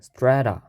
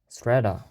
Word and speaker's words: strata: 네, 발음 기호를 찾아보니 에 발음이 나네요. strata. strata.